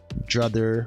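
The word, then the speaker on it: DROTHER: called a dr other druther like kind of like pronounced like brother but with a d and or just dr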